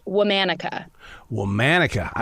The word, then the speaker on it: Womanica: of the name of the podcast it is pronounced womanica well manika I like that now where'd that